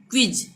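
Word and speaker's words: quiz: ये क्विज, यानी क्वा का उच्चारण आ रहा है। ठीक है, आधा का और व। छोटी की मात्रा क्यों लगी? क्योंकि आई आ रहा है यहाँ पे, क्वी, इसलिए बना है क्वी। ठीक है, यहाँ पे क्वा का उच्चारण आ रहा है यानी क्विज।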